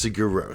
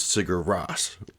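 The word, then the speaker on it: Sigur Rós: be wrong I have I have heard DJs say it's sigur Ro okay so as opposed to how I originally pronounced it which was sigar Ross which is probably how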